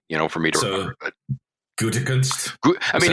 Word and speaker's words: Gutekunst: I mean, if you want to really say it like as a German person would say it, and it's been a while, they would say, his name is Brian Gutekunst.